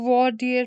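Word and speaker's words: voir dire: called verdict ठीक है last one is your word इसको वर्डियर प्रोनाउंस करते हैं तो वर्डियर होता क्या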